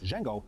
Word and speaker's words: Jango: a hard language a known also as D Jango with a J not a d military circles were suspicious of Jango due to his radical